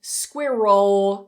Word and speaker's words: squirrel: creates a different word so try not to release your tongue squirrel keep it held up so don't look at the spelling Square roll squirrel now if you go